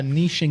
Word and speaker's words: niche: and say like ah niching is the right way to say it but uh but like I think Niche is like a French word or at least that's the way it presents itself it pro probably is